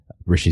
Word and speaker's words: Hrishi: I'm at Rishi, which is Hrishi. Rishi spelled with an H in the front.